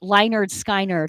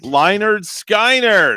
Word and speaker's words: Lynyrd Skynyrd: And the way it was spelled, I would pronounce it Lynyrd Skynyrd. Lynyrd Skynyrd.